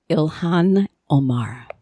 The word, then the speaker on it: Ilhan Omar: Minnesota Democrats have you pronounce her name you pronounce it Ilhan Omar Gahan Omar yeah from Minneapolis area Somali Muslim